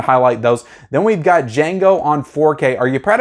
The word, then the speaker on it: Django: just want to highlight those then we've got django on 4k are you proud of me i